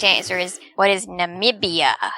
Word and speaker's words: Namibia: to an answer and he said what is nabibia like n-a-b-i-b-i-a or something and i said no that's not that's not how you pronounce it that's not correct and my mother